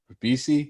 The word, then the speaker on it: Ribisi: Also starred, I can't say this guy's last name, Giovanni Ribisi.